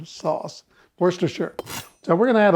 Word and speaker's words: Worcestershire: this Lea and pearings that I never can pronounce that Worcester sure sauce Worcestershire so we're going to add a little bit